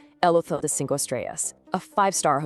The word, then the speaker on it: hotel: In Spanish, it's spelled the exact same way, but remember, the H is completely silent. El hotel.